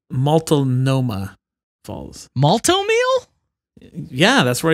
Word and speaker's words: Multnomah: It's pronounced Multnomah Falls.